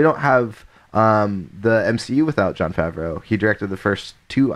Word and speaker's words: Jon Favreau: I was very excited John how do you pronounce his last name Jon Favreau thank you yeah yeah and thank you John